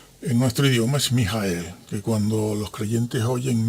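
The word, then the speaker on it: מיכאל: es Miguel si vamos al hebreo y luego pronunciamos en nuestro idioma es mijael que cuando los creyentes oyen mijael uy Cuánto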